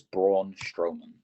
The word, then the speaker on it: Braun Strowman: My pick's name actually semi-rhymes with yawn. It is the monster of all monsters. One big SOB. It is Braun Strowman.